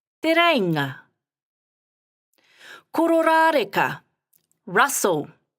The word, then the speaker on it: Kororareka: Kororareka, Russell. Ko, ro, ra, re, ka.